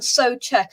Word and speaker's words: Souček: It's Sofal and Souček, as confirmed by Souček. So it's Sofal and Souček. Right, those are the pronunciations of that.